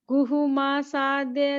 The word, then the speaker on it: गुहमासाद्य: नहीं, गुहमासा, पूरा मुंह खोलिए, मासा, गुहमासाद्य। गुहमसाद्य धर्मात्मा।